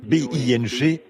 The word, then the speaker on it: Binghamton: Je n'arrive pas à prononcer cela. Binghamton.